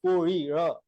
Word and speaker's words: Kohli: in Bombay, there are fishermen who are, they call it as Kohli. Instead of la, they actually they have a ra pronunciation, All but right. it's a Kohli Samaj.